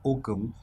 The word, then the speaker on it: OKM: you oh so uh we are called okm and we pronounce it as okum so okum stands for